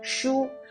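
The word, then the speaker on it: 书: to books and the book in mandarin is pronounced as shu which has a similar sound as lost there is an old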